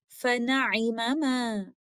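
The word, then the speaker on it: فَنِعِمَّا: And Surah Al-Baqarah, ayah number 271, فَنِعِمَّ is actually فَنَعِمَمَا. Here again, idgham kabir is happening, and the first letter meme acquires a sukoon and merges into the second letter meme, and this is how we recited فَنِعِمَّ.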